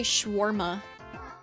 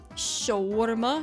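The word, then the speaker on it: shawarma: a wonderful day let's talk about scharma pronunciation I don't know why people say schwarma it lit it has an a there I don't even I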